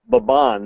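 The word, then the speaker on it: Mbabane: we were staying was baban that's spelled MB b n e you kind of hum the m and then say baban it's kind of like ban and that's the capital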